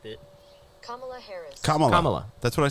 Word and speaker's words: Kamala: And it's Kamala.